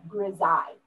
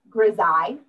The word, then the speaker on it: grisaille: When an artist is painting in black and white, it's called grisaille. What is it? Grisaille. And it's a French, it's G-R-A-I-S-I-E-L-L-E.